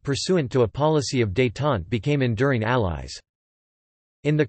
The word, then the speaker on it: Détente: Détente, French pronunciation, détente, meaning relaxation, is the easing of strained relations, especially in a political situation.